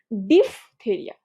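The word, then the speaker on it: diphtheria: সো এই জায়গাটা একটু খেয়াল করবা যে this is not deep, this is ডিফ তা রিয়া বা দেরিয়া বা থেরিয়া, ডিফথেরিয়া, ঠিক আছে?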